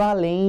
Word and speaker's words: além: Eu pronuncio além, né, gente? Como se fosse um I junto do E.